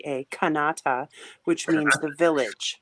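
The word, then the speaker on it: Kanata: Canada because the folklore here is that it it's spelled K A N A T A Kannata which means the village right so the story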